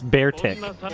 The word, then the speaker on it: Beartic: my god bigfoot no it's beartic like arctic but bear you dumb bastard it's a